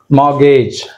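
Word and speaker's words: mortgage: మార్గేజ్, మార్గేజ్, right, ఏమి ఇచ్చారు ఇక్కడ, మార్గేజ్ అంటే ఆర్ కూడా సైలెంట్ ఇచ్చారు చూడండి ఇక్కడ, మార్గేజ్, రైట్.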